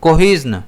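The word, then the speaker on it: cohesion: इसे हम प्रोनाउंस करेंगे कोहिजन। इसमें कई जगह ज की जगह हमें श भी प्रोनाउंस करने में मिलता है। लेकिन इसका जो प्रोनाउंसिएशन फोनेटिक ट्रांसक्रिप्शन के अकॉर्डिंग है वो यहां पर जेड दे रखा है जो कि जय को बनाता है।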